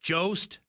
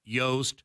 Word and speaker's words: Jost: right yeah yeah yep it's Jost joust not yoast father it's uh but